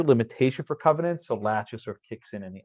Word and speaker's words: laches: It's spelled L-A-C-H-E-S, latches, not laches, latches.